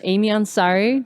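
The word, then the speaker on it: Aimee Ansari: welcome back to the booth we're here with Amy Ansari do I say it right yes okay good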